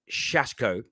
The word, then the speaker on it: Šeško: rb salzburg striker benjamin i've been told it's pronounced shashko now the original report